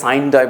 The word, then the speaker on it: sine die: আমাদের জানতে হবে, এবং আমরা সাইন ডাই বলবো না, এটাকে আমরা বলবো সাইনে ডাই।